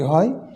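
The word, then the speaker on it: ح: আমরা এটি উচ্চারণ হবে কণ্ঠনালের মধ্যখান থেকে হা অর্থাৎ কণ্ঠ দিয়ে আগে বাতাসের শব্দ বের হবে তারপরে এর উচ্চারণটা আসবে কন্ঠ দিয়ে আগে বাতাসের শব্দ বের হবে তারপরে এর উচ্চারণটা আসবে হা এরপরে আমরা যে হরুফটিতে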